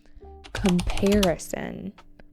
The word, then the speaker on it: comparison: Comparison with an emphasis on the second syllable comparison.